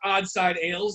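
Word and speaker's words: Odd Side Ales: Nick it's pronounced Oddside Ales.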